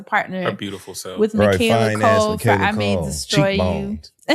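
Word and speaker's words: Michaela Coel: Michaela Cole. Michaela Cole. We got to partner her beautiful self with Michaela Cole for I May Destroy You.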